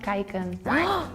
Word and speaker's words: kijken: It's pronounced kijken. Oh. Baby chicken. No, that's kuiken. That was all a lot of similarities. That's super different.